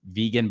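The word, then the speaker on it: Vigen: Montana State team and his last name is vegan but it's not spelled like like the food vegan and it's been like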